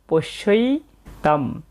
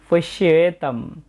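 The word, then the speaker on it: পশ্যৈতাং: তাই আমরা এখানে উচ্চারণ করব পশ্যই তাম। কোনো শব্দের শেষে অনুস্বর থাকলে আমরা অর্ধেক ময়ের মতো উচ্চারণ করে থাকি। এটা সংস্কৃত শুদ্ধ উচ্চারণ পশ্যেতম।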